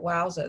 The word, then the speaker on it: Wowza: So when I was showing that shout, that wowza, that's how you pronounce it, the wowza paper mache sample, you know, all of that artwork was artwork that I was covering.